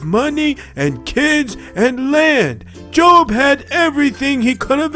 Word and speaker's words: Job: My favorite story about trusting in God is about Job. Oh, I don't have one of those. I'm a bum. Very funny. You know it's pronounced Job and not Job. Yeah, well, they're both spelled the same la-di-da.